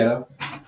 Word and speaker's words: Nieto: She was Nieto.